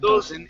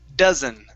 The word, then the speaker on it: dozen: your teeth and so you want to say dozen and it's not doen it's D dozen okay thank you okay